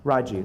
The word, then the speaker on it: Raji: Attorney General's office, from DCCA Consumer Protection is Raj Tolentino. I hope I pronounced your first name correct. Raji, I'm sorry.